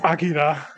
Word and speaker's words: Akira: I know I know how it's pronounced. It's Akira. I call it sometimes. Sometimes I need to give my tongue a rest and I'll just say Akira.